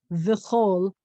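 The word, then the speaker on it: וְכׇל: And then we have the Chaf with an O dot, and then the Lamed, the tallest letter. So it says Vichol.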